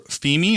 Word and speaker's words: Femi: So Femi or Femi? It's Femi. Femi.